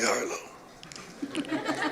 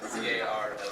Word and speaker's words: Carlo: Jack Harlow. follow Jack Harlow. Did I say it right? Jack, C-A-R-L-O.